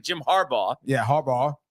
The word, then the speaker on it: Harbaugh: So I'm making an emphasis, just like Jim Harbaugh.